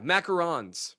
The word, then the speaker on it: macaron: Yeah, macarons. Macaroons are coconut cookies. Macaroons are coconut cookies, and macarons are the Macarons. I think you still added a syllable.